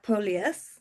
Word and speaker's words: Polius: So hello and welcome to today's conversation and I'm delighted to be joined today by Tyler Polus. Have I pronounced that correctly?